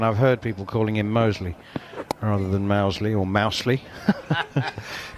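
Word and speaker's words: Moseley: Hey, just a quick one on Mosley or Mousley. How do you pronounce it? The Birmingham suburb. Mosley. Mosley, right. Just checking. But that's only because I'm a... It is Mosley, but I would just...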